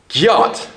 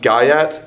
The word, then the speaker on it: gyat: You wouldn't say, for example, gayat. You would say gyat or gyat.